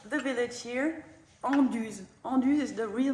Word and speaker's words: Anduze: And I'm here just to tell you hello, and that we call the village here Anduze.